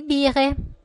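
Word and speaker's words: Biere: Possiamo dire anche Mineralwasser, acqua minerale, das Bier, che diventa di bire al plurale, quindi attenzione al cambio di pronuncia, das Bier, di bire, di Milch, il latte, der Tee, il tè.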